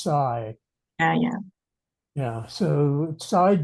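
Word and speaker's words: Cai: spells it C AI so we we would pronounce it Kai but I'm told that in Chinese it's should be pronounced Sai yeah yeah yeah so side dun Shen tried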